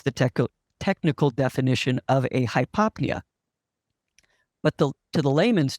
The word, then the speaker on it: hypopnea: enough is hypo so if I put hypo in front of pnea it's pronounced hypopnea but it means those